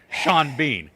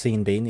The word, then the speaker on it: Sean Bean: But the way that the Irish actor spells his name, it should either be pronounced Sean Bon or Sean Bean. You cannot have one letter changed on each word and it be Sean Bean. That makes no sense.